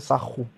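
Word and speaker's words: Sahu: Mais en fait, dans les langues, on le roule en fait. C'est pour ça que ça fait sarro.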